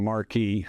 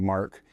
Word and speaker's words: marque: Another bill I'm working on um it's called letters of marquee or it's excuse me letters of mark actually it's pronounced mark spelled marquee it's um it's under article one